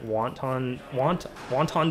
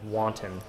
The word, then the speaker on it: wanton: You know, because you say wonton soup, I now just call it wonton destruction, and then people look at me funny, and then I have to really put a lot of effort into saying it correctly, which is wanton destruction.